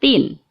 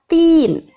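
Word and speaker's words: تين: kemudian coba kita perhatikan kalimat Tin ini dinamakan bacaan Mad Thobi'i karena ada Ya Sukun didahului oleh kasrah dan cara membacanya panjang dua harakat kemudian huruf tool sebenarnya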